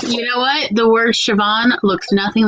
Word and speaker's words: Siobhan: It just has a BH in it that's pronounced as a V. That's the only thing that makes it difficult. Look, you know what? The word Siobhan looks nothing like how they spell it.